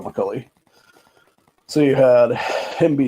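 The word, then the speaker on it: McColley: I believe it's McCulli, but I could be wrong about that one. Yeah, it's Rob McCully.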